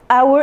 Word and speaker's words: hour: An, our, it's the first vowel, it's sorry. And the first vowel is the first silent. The first letter is silent, so the vowel is pronounced ow sound.